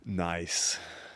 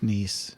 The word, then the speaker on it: Nice: where would it be nice that's a good one it's pronounced niece it's that's what I